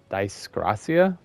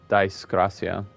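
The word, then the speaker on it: Dyskrasia: So the only AoE ability that you can actually cast repeatedly would be the Disgracia, I believe is the pronunciation of that.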